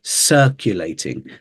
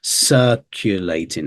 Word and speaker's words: circulating: we just went over circulating this s sound at the start circulating and this u in the middle as well many people might want to say uh instead of U circulating okay so watch out for